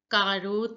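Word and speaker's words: carotte: to pronounce accurately again carrot is pronounced as karoth in French now listen to the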